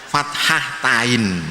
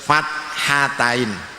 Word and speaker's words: fathatain: Ini seringnya anak salah penyebutannya, bacanya fathatain. Nah, harus fathatain, haknya dihilangkan, harus fathatain.